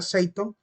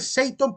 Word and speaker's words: seauton: O Seauton, dicen algunos libros, pero se pronuncia Seiton. Se dice Seiton porque en este caso la E y la A forman una especie de diptongo que se pronuncia como una letra E, igual que en el latín, ¿verdad?